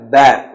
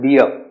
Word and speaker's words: bear: Africa a grizzly bear it is a bear not beer be the pronunciation correct